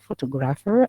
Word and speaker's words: photograph: most important okay so here look at the word in here photograph it has three syllables we have faux toe and then graph three syllables but the stress is on the first one four four that is